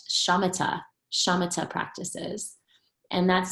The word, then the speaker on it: shamatha: So these practices traditionally are called shamatha practices. And that's spelled S-H-A-M-A-T-H-A.